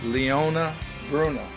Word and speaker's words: Leona Bruno: Miss Leona Bruno. Yes. I pronounced that correctly?